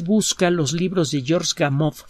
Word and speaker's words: Gamow: los libros de george gamow se escribe como suena hagamos con un ave chica al final si usted busca los